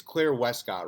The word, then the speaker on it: Claire Wescott: free podcast today's guest is do you it's claire westcott right am i pronouncing that right yeah that's it okay perfect